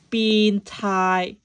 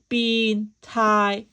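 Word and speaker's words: 變態: Similar to Japanese, in Cantonese, we say bin tai, bin tai.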